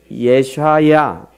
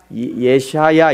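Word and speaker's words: ישעיהו: 그래서 발음도 어려운데 예샤야 이렇게 저쪽부터 읽어요. 예샤야 이렇게 읽는 이게 이사야입니다.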